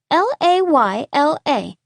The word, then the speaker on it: Layla: does not make sense my name is spelled l-a-y-l-a and you pronounce it layla just as it ought to be he snorted last